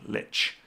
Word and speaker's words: Lich: pronounce Lich. Lich. Okay, Lich.